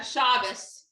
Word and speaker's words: Shabbos: dinners with we call is it shabbos am i saying it wrong yeah shabbos shabbos so you do shabbos